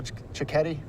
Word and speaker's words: Cecchetti: Miller alongside our champion Daniel chetti got it right yes I've been saying it wrong all day but I want to